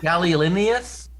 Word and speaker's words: gallinaceous: Noun, a large North American gallinaceous, can you pronounce that word? Gallinaceous bird. What? That is domesticated in most parts of the world. I think it's gallinaceous.